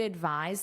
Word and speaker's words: advise: Notice this pronunciation advis. So that's a voiced sound like a z a z.